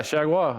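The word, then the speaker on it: Chargois: about him how about JT sh is it Shaga is that you say his name yeah Shaga I played with him in Minnesota he's nasty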